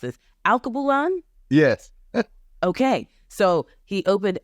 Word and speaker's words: Alkebulan: In 2021, he opened, and you might need to help me pronounce it. Alkebulan.